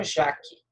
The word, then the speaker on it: Jacques: Bossuet e Jean Baudin, não se pronuncia o S. Então, fica só Jacques, tá? Não pronuncia o S.